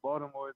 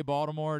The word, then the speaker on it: Baltimore: I know do you do you pronounce the T when you say Baltimore do you understand there's like it's really like a d how does that it's a d to me I'm there you go